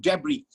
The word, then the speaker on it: debris: right guys let's continue debris that is d-e-b-r-i-s d-e-b-r-i-s it's debris that's that's the word we're talking about people think that this word is debris no no no it's not debris it's debris you know that's how